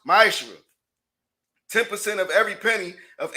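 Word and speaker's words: מעשר: Means tenth in Hebrew, and it's pronounced ma'ashra.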